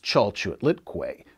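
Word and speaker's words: Chalchiuhtlicue: chao chiliqui ciao say some unpronounceable word it's pronounced chalchute litquay an aztec goddess of both water and fertility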